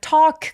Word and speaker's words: talk: the fish could talk and said 자 talk 같은 경우에 토크 아니고 턱 길게 발음하고요. L 발음은 내지 않습니다.